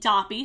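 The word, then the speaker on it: Doppy: very end of the first episode we meet Dobby what is spelled d-o-pp is silent but felt as you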